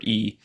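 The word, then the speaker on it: 意: So it's Uh, often translated as E, pronounced E, yes. but it's written as YI, transliterated.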